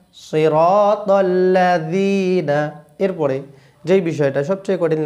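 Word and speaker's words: صراط الذين: বলতে বললে হবে ললাজনা সিরাতাল্লাজি বললে কিন্তু ভুল হবেলা বললে ভুল হবে নরম করিটা জিবাটা বাইর করে উচ্চারণ করলে জাল সহজে আসে বলুন আমার সঙ্গে সিরাতল্লাজিনা সিরাতল্লাজিনা এরপরে যেই বিষয়টা সবচেয়ে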